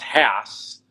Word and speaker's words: Hass: it's HASS, and it's actually pronounced Haas as opposed to the old spelling of HAAS.